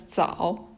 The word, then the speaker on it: 早: It's pronounced as 早, and it means early.